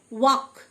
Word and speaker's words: walk: ওয়াক, WALK, এল silent, ওয়াক, মানে হাঁটা।